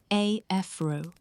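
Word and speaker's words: Afρ: Observers often compress dust vigor into AFRA, pronounced AFRO, a handy pseudo-aperture measure combining albedo A, filling factor F, and projected radius ρ.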